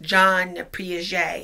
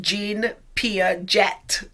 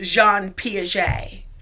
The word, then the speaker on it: Jean Piaget: swiss biologist jean piaget it is spelled gene but it's pronounced john piaget it's french okay so when you're